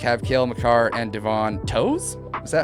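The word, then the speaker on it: Toews: We're going to have Cale Makar and Devon Toes. Is that how you pronounce it? Is it Toes? Yeah. I think it's Taves.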